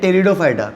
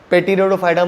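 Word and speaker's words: Pteridophyta: Now crypto games are classified in 3 groups, थैलोफाइटा, ब्रायोफाइटा एंड टेरिडोफाइटा। P silent है, पेटिरोडोफाइटा मत बोलना।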